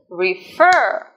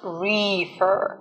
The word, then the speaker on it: refer: to the stress so the stress and on the is on the fur sorry is on the second syllable refer not reefer its reefer it's on